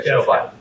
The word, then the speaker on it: Showbot: And Showbot. So from Nerdist News, so that had a big beat in nerd culture, geek culture. And her last name rhymes with robot.